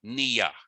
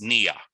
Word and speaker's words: niya: the same word, and it's niya, which you will often see spelled like this, okay? So generally, when you see a double I, it's pronounced like a double E.